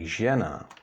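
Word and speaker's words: žena: mzac a brain now adding the hook Z we get J and that's pronounced the same as in the English word usual and in check you can hear it in words like Jenna which means woman or wife and for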